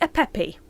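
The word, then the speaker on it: Apep: an evil serpent called a pep. Some people say a pepe.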